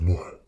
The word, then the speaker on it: Ноа: На ингушском языке произносится как «ноа».